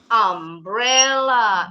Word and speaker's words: umbrella: Beda dengan umbrella. Ini sama-sama huruf U. U-nya bunyinya A berarti pakai N.